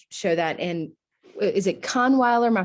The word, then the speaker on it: Kahnweiler: And is it Kahnweiler? My pronunciation, I'm like Southern. Yeah, Kahnweiler.